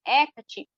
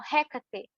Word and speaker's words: Hecate: falavam inglês, é que tem gente que pronuncia Hecate, por conta do H, o som de H em inglês tem som mais ou menos de Rê. Então elas falam Hécate.